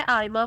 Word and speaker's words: Aaima: नाम है आयमा फातिमा।